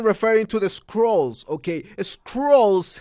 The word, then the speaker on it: Skrulls: Skrulls has a distinct pronunciation different than Cruel.